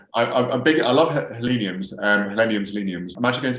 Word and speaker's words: Helenium: so this is um a hellenium wall trout wall um which i've known before lots of times my pronunciation was completely wrong trumps if you okay helenium and voltron allen just says it